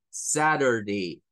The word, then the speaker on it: Saturday: or SAT or Y luego el Day Saturday Saturday Saturday Saturday Saturday Ahí es donde entra el la diferencia entre American English y el inglés tradicional un británico eso los va a pronunciar como Saturday Saturday Saturday sin sin sonar mucho la r realmente